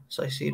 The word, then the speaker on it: Caicedo: How do you pronounce his name? Is it Caicedo? Caicedo.